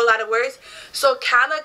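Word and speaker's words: Calla: lot of words so kala kind of looks like Gaia the two l sound like a j it means Street in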